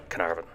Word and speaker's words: Caernarvon: English language version is Canaveral as in Lord Carnarvon and Caernarfon Castle now let's have looked